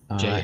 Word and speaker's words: Jail: Jail, I think that's how I pronounce the name, Jail, right? Yep. Jail.